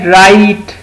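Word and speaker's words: write: फिर है राइट, राइट, इसमें W साइलेंट है, इसकी कोई आवाज़ नहीं है।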